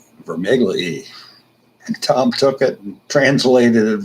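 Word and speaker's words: Vermigli: revolts of 1549 and Peter for niggly he was a table companion with Tom Cranmer Lambeth and helped him write the rebuttal to the Cornish death cherry rebellion it's actually vermi Glee and Tom took it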